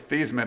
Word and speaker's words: Theismann: so you mentioned joe theismann who i think was these men at the time they changed his name to like rhyme with the heisman uh he had a